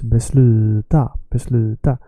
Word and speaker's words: besluta: It's never besluta or besluta. No, it's besluta.